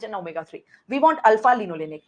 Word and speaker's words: linolenic: It's linolenic. Can you please pronounce?